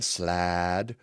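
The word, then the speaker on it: slaad: I'm going to pronounce it like there's an apostrophe in there. Like it's a Hawaiian word. It's slad.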